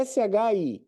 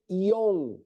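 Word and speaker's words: 四: It, ni, sam, shi, que é S-H-I. O shi, ele pode ser shi ou pode ser ion. São duas formas de se pronunciar. Shi e ion.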